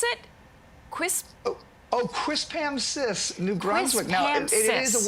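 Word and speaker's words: Quispamsis: the name of this town how do you pronounce it quis oh quis Pam sis New Brunswick now it is a word that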